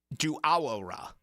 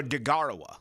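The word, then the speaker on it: Deguara: Josiah Duawara is how you pronounce his name. Or Degarawa, excuse me, from Green Bay.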